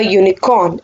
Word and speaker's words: unicorn: Some exceptions are, I saw a unicorn in my dream. Unicorn, U is a vowel, but it doesn't give a vowel sound. It is being pronounced as U, Y. It gives a consonant sound.